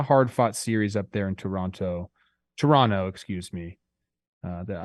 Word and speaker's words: Toronto: the next one uh Toronto don't pronounce that second T you've told me uh again they came